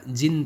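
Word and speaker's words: djinn: डी जिन, यहाँ पे डी लिखा हुआ है, मीन्स डी साइलेंट है, इसको क्या पढ़ा जाएगा, जिन पढ़ा जाएगा.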